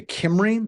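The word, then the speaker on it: Cymru: And I'm going to send that to Kimry. It's Welsh. That's how it's pronounced through their who is service.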